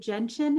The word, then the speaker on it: gentian: with the photograph on the fringed, is it gentian? Is that how you pronounce it?